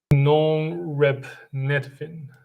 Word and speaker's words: norepinephrine: I need to look up the dictionary to check how to pronounce this word. Is it norepinephrine?